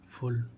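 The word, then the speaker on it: full: है खींचना ऐसे इसमें एफ U double L फुल फुल means क्या होता है पूर्ण फुल फुल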